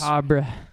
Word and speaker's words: macabre: experimental sound, which The is macabre. yeah, which is How do you pronounce that word? Macabre. English major. Macabre. Macabre. Yeah. macabre. You don't pronounce the r.